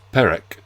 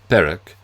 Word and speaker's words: Perec: is rendering in French as perk constitutes the concealment of my Jewish background through my patronm. Yet the fact that the galicization is slightly off, the rules of pronunciation would imply that the first e should bear an acute accent to give perk leaves a trace but